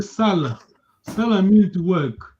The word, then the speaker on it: sala: So your tone, the way you pronounce gives the meaning to the word.